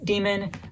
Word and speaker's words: Damon: I think it's actually pronounced Demon in the audiobook for whatever reason.